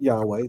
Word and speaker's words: Yahweh: The YHWH, I would pronounce that Yahweh.